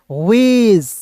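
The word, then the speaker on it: wedge: देखिए आप डब्ल्यू ई डी जी क्या पढ़ेंगे, वेज। अब आते हैं दोस्तों ई के उच्चारण के नियम को समझते हैं।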